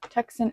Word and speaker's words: Tucson: So this is going to Tucson, I think that's how you pronounce it, Tucson, Arizona.